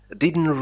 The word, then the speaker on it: didn't: didn't really هذا الحرف تي لا ينطق عندما تتحدث بالإنجليزية بسرعة، لا نقول didn't really know لكن didn't really know, didn't really know, didn't, didn't really know.